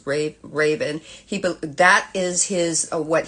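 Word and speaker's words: Ravon: uh r a v o n but it's pronounced ra Raven he that is his what he believes is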